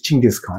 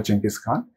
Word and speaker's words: Chinggis Khan: But the Mongol pronunciation, I believe, is Chinggis Khan.